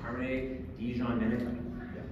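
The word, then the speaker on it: Carmine Di Giandomenico: His name's Carmine DiGiandomenico.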